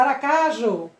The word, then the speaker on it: Aracaju: tem a certo mas a sílaba tônica qual é a aracaju analisar aracajú aracajú então a sílaba mais forte a u.ju oxítona também palavras paroxítonas são